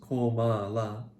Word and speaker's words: Kamala: Kamala, pronounced Komala, means lotus flower in Sanskrit.